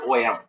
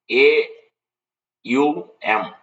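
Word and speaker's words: AUM: is representing it's not om it is a u m it's not om it is a u m it is spelled the alphabets a u m so what is a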